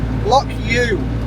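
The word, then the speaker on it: Loch Ewe: to be heading to lock U ewe it's spelled and uh yeah having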